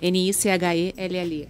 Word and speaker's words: Nichelle: Se escreve Nichelle, com N de navio, né? Nichelle.